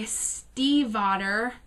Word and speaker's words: Stiefvater: i've also already mentioned maggie stiefvater i know that's how you say it now because i looked at her faqs maggie stiefvaters linger and